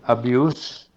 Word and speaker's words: abuse: Y aquí tenemos el primer caso, abuse, termina por una S sorda y como maltrato es sustantivo, pero ya el verbo maltratar es con una S sonora, abuse.